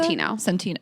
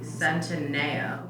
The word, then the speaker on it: Centineo: Centino. No, it's not. It's like got an extra letter. I thought you pronounced it correctly. Centineo.